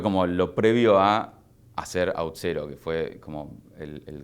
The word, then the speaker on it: Auth0: proyecto de Es outero, no es auto. Es outero. Es cero. Es cero. Sí, sí. Este, tengo un problema con los nombres de las de las empresas que que cuesta que la gente lo pronuncie, pero sí es AUT de authentication y cero es el número.